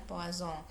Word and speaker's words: Poisson: Jadi yang pertama adalah data binomial, kemudian yang kedua adalah data di hipergeometrik, yang ketiga ini diambil dari seorang ilmuwan Prancis, pelafalannya adalah Poisson.